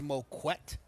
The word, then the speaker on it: Moquett: He did teach me how to pronounce his name. It is Moquett.